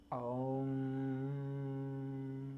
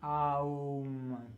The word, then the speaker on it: Om: comes out a sound, Aum, the famous Aum, Aum. We write it O-M, Om. We pronounce it as Aum, 3 letters.